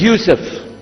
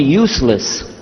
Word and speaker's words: Yusuf: gone my name is Yusuf he say Yusuf you sir very good I wish you teach my wife she keeps mispronouncing it she calls me useless humbly now how many